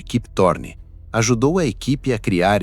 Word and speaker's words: Kip Thorne: O físico Keep Thorn, pronuncia-se aproximadamente Kip Thorne, ajudou a equipe a criar esse efeito usando cálculos científicos.